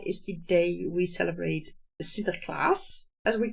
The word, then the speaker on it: Sinterklaas: And that is the day we celebrate Sinterklaas, as we call it. And that is, well, I should say it correctly. We celebrate Sinterklaas, who is a saint who gave presents to